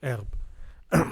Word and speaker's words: herb: old French from Latin in French we wouldn't say the H it's a silent h Erb grass green crops herb